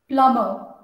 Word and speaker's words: plumber: Plumber. So the B is silent.